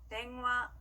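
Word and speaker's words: 電話: 댕화, 댕화. 네, 좋습니다. 어묵은요, 이것도 한국에서 자주 쓰이는 표현이죠. 오뎅이라고 하는데요. 같이 해볼게요. 오뎅, 오뎅. 네, 좋습니다. 이렇게 이 행들 앞에 왔을 때는요, 니은과 이응의 중간 발음으로 소리가 납니다.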